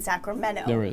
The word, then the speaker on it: Sacramento: Erin Swanson McGoldrick says you do pronounce the T in Sacramento I've lived here my